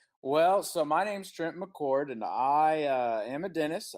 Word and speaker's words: McCord: Trent McCord with me. Am I pronouncing your last name correct, Doctor?